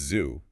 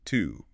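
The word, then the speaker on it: zu: In German, it's zoo, but pronounced tu.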